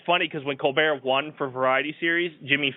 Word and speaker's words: Colbert: And it's funny because when Colbert won for Variety Series, Jimmy Fallon ran up there. Yeah. And the joke was because Gwen Stefani said Colberg or Colborg. Yeah. Jimmy Fallon's like, she pronounced it wrong.